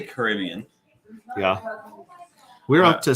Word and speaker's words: Caribbean: Some people say Caribbean, some people say Caribbean, some people say Caribbean. I say Caribbean.